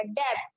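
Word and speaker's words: depth: डेप्थ, जब आप डेप्थ बोलेंगे तो टी जो है वो आपको ठीक से सुनाई नहीं देगा, वो साइलेंट रहेगा।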